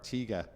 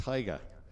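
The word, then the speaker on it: Tiga: I was calling the older car Teague A. But apparently it's a Tiger as a 79 so 1979 Tiger. So I had my pronunciation wrong. Like Tony the Tiger on a packet of Frosties.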